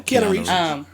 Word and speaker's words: Keanu Reeves: Am I pronouncing his name right? Yes. Yeah, Keanu Reeves.